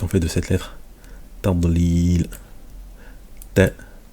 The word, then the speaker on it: تضليل: Tadlil. Donc c'est la lettre dod qui va se prononcer comme ça lorsqu'elle a une soukoun. On dit pas tadlil. C'est pas tadl, mais tadlil. Voilà, on fait gonfler la